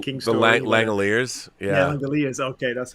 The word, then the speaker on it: Langoliers: Yeah, Langoliers.